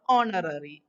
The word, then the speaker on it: honorary: Here article A is used before honorary. We know that the pronunciation honorary is beginning with the vowel letter O.